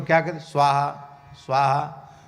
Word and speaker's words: स्वाहा: क्या कर स्वाहा स्वाहा स्वा के ऊपर ही कई बार आहुति गिर जाती है हा के ऊपर तो लौट के आ जाते हैं स्वा स्वाहा ऐसे हो जाता है स्वाहा स्वाहा और उच्चारण करना चाहिए मानसिक उच्चारण करने से